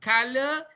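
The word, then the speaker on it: colour: Now let's look at the other one, color, LOUR. Yeah, color here is not pronounced.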